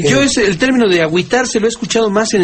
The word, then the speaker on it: agüitarse: que Cómo se escribe Pues lógicamente con diéresis en la u para que nos diga agitarse yo es el término de agüitarse lo he escuchado más